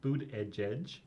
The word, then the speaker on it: Buttigieg: charged events I went to see mayor Pete boot edge edge I guess everyone gonna try to have preciseness to mispronounce his name because it doesn't look at